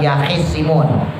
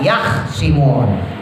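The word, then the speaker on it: يخصمون: Jadi bacanya bukan yahisimun, bacanya yahsimun, khoknya disukun.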